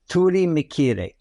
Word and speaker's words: Turimiquire: And that's pronounced Turimiquire in the Carib language.